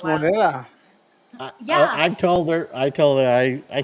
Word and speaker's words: Moneda: phonetically spelled moneda. Yeah. But he says So that's come. What'd you on, that's say? come on, guys. We call monida.